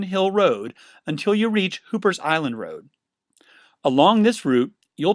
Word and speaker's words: Hooper's Island: title guts down to Hooper's Island or as the locals pronounce it hoppers Island the area is named